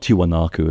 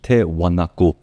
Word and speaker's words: Tiwanaku: If you want to find out about Tewanaku, not Tiwanaku, that's what they pronounce it today. The original is Tew Wanaku.